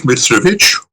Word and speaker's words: Mitrovic: My name is Mithravich or Travik depending on how you want to pronounce it.